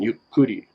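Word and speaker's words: ゆっくり: it again you could so it has that double k in there again you kudi so that means slower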